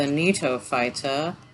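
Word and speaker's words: Gnetophyta: cycadophyta the ginkgo fighter the neato fighter g is silent and the conifero coniferophyta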